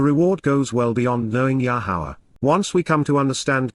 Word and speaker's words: Yahowah: about and consult with, Yahowah, the proper pronunciation of Yahuwah based upon his Torah,